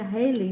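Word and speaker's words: Halley: Aí entra uma figura também conhecida, né, que é o Edmund Harley. É aquele, né, do cometa Ry. Então, às vezes o pessoal pronuncia Heiley, né?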